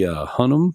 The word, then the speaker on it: Hunnam: that Pedro Pascal was in it, and Charlie Hunnam.